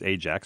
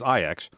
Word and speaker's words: Ajax: in Amsterdam to face IX I often commonly mispronounced as Ajax but as IX okay IX goes up to nil in the